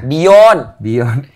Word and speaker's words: Byon: Bion. Bacanya Bayon. Bion tuh B-I-Y-O-N untuk bacanya. Bion. Dari bahasa Inggris B-E-Y-O-N-D. Bion.